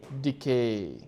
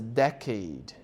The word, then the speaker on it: decade: It's different different from decay. Decay is to like jada jara in pal jada decay become old to age. So you pronounce it as decay. But this other word is decade.